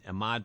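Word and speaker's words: Ahmet: And Ahmad bought her out. They released her, and he bought her out, and then that's when the hits came. He took her down to Muscle Shoals. Rhymes with vomit.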